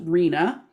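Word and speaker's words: RHNA: is the regional housing needs assessment which is pronounced rena which involves three levels of government at the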